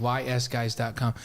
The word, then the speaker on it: ysguys: And they said W-I-S-E. Yeah, we're not smart. It's the letter Y.